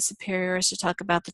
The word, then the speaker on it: superior: And then usually the superior, we put the accent on this final syllable, not just say superior.